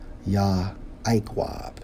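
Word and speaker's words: יעקב: to the Hebrew for Jacob 3290 pronounced as yah iqwab which means heel holder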